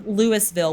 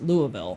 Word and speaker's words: Lewisville: Um, so we have the Mile High Classic in Lewisville, which I learned is not spel like pronounced Louisville.